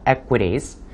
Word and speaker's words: equities: equities. Q 발음이기 때문에 equity가 아니고 equities라고 해서 Q 발음을 분명하게 발음해 주는 게 중요한데요.